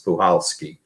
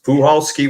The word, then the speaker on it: Puchalski: And they said, well, the C is silent, so it's Puchalski.